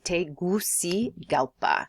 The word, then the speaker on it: Tegucigalpa: a l p a te gusi galpa so definitely a mouthful the best way to get this is to break it down by syllable okay our next country